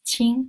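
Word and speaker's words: 青: green or young so but anyway this is pronounced as Ching so we use language so ching-ching is a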